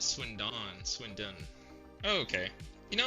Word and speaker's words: Swindon: Is it actually Swindon? Like the D is silent?